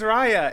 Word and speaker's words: Raya: just go back and forth and how i pronounce it every time always raya it's ryan no i always go back and